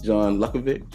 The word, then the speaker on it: John Luckovich: Um, but I have with me today John Luckovich.